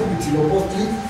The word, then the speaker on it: Huitzilopochtli: En cambio, ves una H en la palabra huitzilopochtli. ¿Pronuncias esta H o no? No.